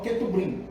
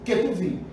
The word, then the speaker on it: Ketuvim: Nebrim, ou Nevim, ou Ketuvim, tá? Que alguns colocam lá, na hora que vai colocar lá, na escrita, por exemplo, coloca Nebrim, mas lê-se Nevim, tá? Outros colocam Ketubrim, mas lê-se Ketuvim.